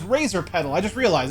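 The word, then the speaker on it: Razorpetal: Razor Petal. Okay, that's what it is. I finally got the correct pronunciation of that.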